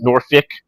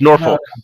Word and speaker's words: Norfolk: Just like I call it Norfolk even though everyone here calls it Norfick. I'm like it's an O people. It's Norfolk.